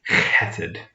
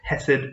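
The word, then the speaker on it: חֶסֶד: sort of letter and so this word is cated and sometimes we might see it just a hesed or maybe it's spelled in english with a ch like um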